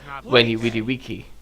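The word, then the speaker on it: Veni, vidi, vici: I hope I get my old Maybe if I remember correctly, I think the pronunciation for the whole Veni Vidi Vici thing would actually be Veni Vidi Wiki.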